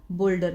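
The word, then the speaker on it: boulder: बोलते हैं बहुत बड़ा बोल्डर इसमें यू जो है वो साइलेंट है इसको बोलेंगे बल्डर प्लेज रखा हुआ प्लेज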